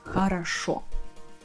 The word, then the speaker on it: хорошо: The rule is extremely simple. О in Russian always sounds like а when it's not stressed. Let's go back to our first example, the word хорошо. Хорошо. Can you guess which vowel, which letter is stressed here? That's correct, the last one.